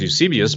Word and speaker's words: Eusebius: and this is considered use abysus and some people pronounce Eusebius but use abyss is